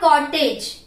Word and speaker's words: cottage: This is not cottage. This is cottage. The word which ends with age must be pronounced as age.